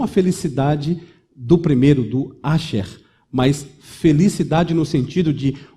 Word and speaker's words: Asher: Essa palavra significa, escrito em hebraico, A-S-H-E-R. Brasileirada, transliterada, a pronúncia poderia ser Asher.